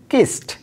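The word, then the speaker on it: kissed: এরপরের শব্দটি কিস, লাস্টে স সাউন্ড, ইডি যুক্ত করার ফলে কি হচ্ছে, কিস্ট।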